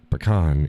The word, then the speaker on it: pecan: Pecan is the correct pronunciation. Because it's actually a Native American word, and that's how they said it.